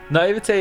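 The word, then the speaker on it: naïveté: Naivete is such a strange spelling. The sound at the end is an A.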